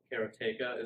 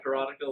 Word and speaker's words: Karateka: the Apple and um Kara tayka is how you say it most people said karateka like I have for 20 years until Jordan Mechner told me no it's carrot a karate but did you guys